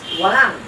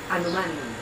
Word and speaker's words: walang anuman: But you see, the you're welcome, walang, is also on the second, but it's only 2 syllables. But is the second one? It's emphasis? walang. Walang. Anuman. The anuman is on the Is third.